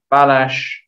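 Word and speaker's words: Balázs: was a young chap called balash well that's the correct name yeah but uh his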